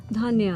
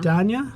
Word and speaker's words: Dhanya: Dhanya. Danya? Dhanya. Oh, that's a yeah. beautiful name. Dhanya. Danya. Yeah. I like It's that. actually pronounced Dhanya.